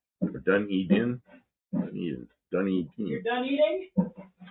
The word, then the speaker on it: Dunedin: Dunedin. Or Dunedin?